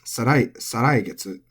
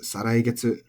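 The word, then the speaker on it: 再来月: And then the month after next has 2 different pronunciations. It can be pronounced as saraigetsu, or it could also be pronounced saraigetsu. Both are perfectly fine. Take your pick.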